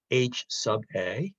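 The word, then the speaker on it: H_a: a next to it typically people pronounce it h Suba but that's the alternative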